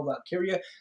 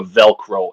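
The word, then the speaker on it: Valkyria: Russo you know how Vince Russo mispronounces things all the time he refers to her as Lyra velcro every single time in yeah he always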